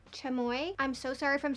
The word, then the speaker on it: chamoy: you told me that you pronounce it chamoy i'm so sorry from